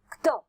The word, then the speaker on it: क्त: अभी जब हम बोलते हैं क आधा है और त, क्त, इस तरह से वह प्रोनाउंसिएशन, तो त ही हमें लगता है कि वह त ही है आधा क और त, क्त तथा तवतु प्रत्यय।